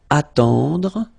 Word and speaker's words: attendre: Then attendre, attendre. Remember, final you don't insist on it, it just gives you the possibility to pronounce the dr, dr.